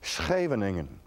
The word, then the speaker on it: Scheveningen: town called scheveningen and in order to say negan you need to either have to be dutch or you have to have post-nasal drip and the uh and the germans could never pronounce havening and here that's shavening and they couldn't do that and so that was